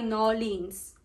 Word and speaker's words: New Orleans: New Orleans? Tama daw yung, ang tama daw ay Nolins.